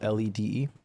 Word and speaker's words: lede: Wait, You know that in that sentence, lead is spelled L-E-D-E. I did. I would say lede. Lede.